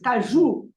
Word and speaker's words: caju: The word caju has got an accent. Has an accent on the last syllable. Yeah. Yes. Okay? Yeah. So it is caju.